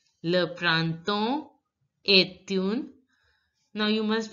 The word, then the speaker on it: printemps: So, here, P and S are not going to be pronounced. Le printemps est une.